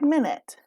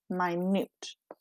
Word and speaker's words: minute: And it's spelled just like minute, but it's pronounced minute, and it's an adjective.